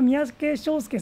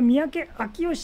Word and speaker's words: 三宅章介: なんですね漢字で見ると読むと三宅正介さんなんで私は三宅正介さんとえ紹介しちゃいましたけどもえ正しくは三宅明吉さんのえキ屋根